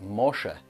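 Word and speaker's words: משה: The English name Moses is pronounced Mosha in modern Hebrew.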